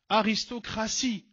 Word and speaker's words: aristocratie: Aristocratie T I E, mais je prononce S.